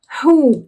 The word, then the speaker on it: who: E olha a pronúncia, aqui a gente faz o som de h, tá? H. Eu sei que é meio estranho, né? Porque tem um W antes, mas fazer o quê? É assim.